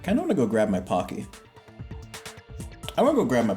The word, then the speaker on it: Pocky: found it is it pocky or pokey it's okay it's technically supposed to be pronounced pokey but no one says that here because don't